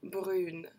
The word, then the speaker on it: brune: Not only do we change the and end up pronouncing that N at the end, we also change the way that the vowel is pronounced with this one.